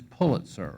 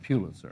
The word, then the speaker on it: Pulitzer: with something very basic pronunciation it is Pulitzer right not pew listen just as your boss